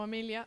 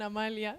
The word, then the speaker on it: Amelia: Entonces, yo me llamo Amelia. Me pasa mucho que me llaman Amalia, sobre todo cuando me conocen al principio. Entonces, bueno, creo que esa e en mi nombre, que pronuncié muy